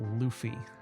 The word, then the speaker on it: Luffy: It's actually pronounced Luffy.